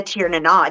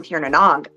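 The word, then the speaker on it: Tír na nÓg: And the Tir na Nog, the people from Tir na Nog. Yeah, Tir na Nog. Tir na Nog, I can't say it right. I'm from Texas. It's the Nog is actually pronounced no.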